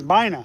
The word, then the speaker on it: Baynaa: It's Bina. It's Bina. But then my full name is. I cannot pronounce that.